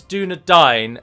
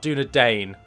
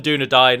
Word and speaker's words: Dúnedain: said this way but do you know that it is do not dine and not do to Dane as if you are eating them you're dining on the Doudna that's the pronunciation of it so it is northern Doudna dine and not northern do today just a side net